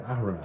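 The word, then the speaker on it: Ahriman: of ahraman all right now the heart of ahraman and I'm pronouncing it that way because I want to make sure I get that H in there this was something that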